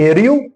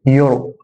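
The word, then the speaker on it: euro: لا ينطق حرف الاي لو جه في اول الكلام وبعده حرف اليو. ازاي يعني؟ حرف الاي جه في اول الكلمه، حرف الاي جه في اول الكلمه وبعديه جه بعديه حرف اليو، اليو دي ما تخليش الاي يتنطق اكن الاي مش موجوده، فهنا هقول اريو لا هقول يورو، عمله اليورو يورو، يورو ما اقولش اريو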